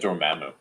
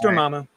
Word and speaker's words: Dormammu: I always said Dormammu. No, you're wrong. It's Dormammu.